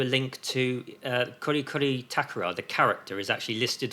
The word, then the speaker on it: Takora: Takora, got to stress the last syllable.